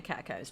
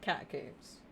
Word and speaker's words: catacombs: in games that I've started saying catacombs. But I'm sure when I was younger I said catacombs. It was just reminded me. So I was curious as to how many people say it with a long O or not. Because also I think it's French, isn't it? So catacomb sounds more, I guess, French.